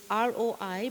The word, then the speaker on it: Roi: And Roi, it's R-O-I, but we pronounce it as Roi, R-O-E-E.